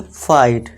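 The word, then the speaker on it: fight: रहा है जी एच, पर इसमें जी एस टी को क्या रखना है, आपको साइलेंट रख देना है, बस इतना सा काम, ठीक है दोस्तों। तो इसे क्या पढ़ेंगे फाइट, ठीक है दोस्तों।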